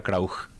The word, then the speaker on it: Krauch: Pero si uno va a leer en castellano es Krauch, ¿verdad? Ajá. Y en alemán sería Krauch.